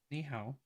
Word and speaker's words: 你好: Ni hao? Is that it? Ni hao? Ni hao.